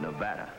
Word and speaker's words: Nevada: By the way, that's pronounced Nevada. I notice you give it the broad ah. I prefer it to a dreadful flat e. Only the dreadful flat air is correct.